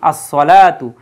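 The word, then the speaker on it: الصلاة: শব্দটা ছিল তার পূর্বে আলিফ লাম যদি আমরা বসিয়ে দেই আসসালাতু এই সওয়াব যেহেতু সূর্যাক্ষর অর্থাৎ তার পূর্বে আলিফ লাম আসলে আফলি লামের উচ্চারণ হয় না তার উপরে তাসদিত আসে এজন্য তখন হবে কি আসসালা আর শেষে তা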